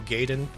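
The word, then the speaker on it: Gaiden: There's a Tetsuo Gaden, which is actually pronounced Gaden in game.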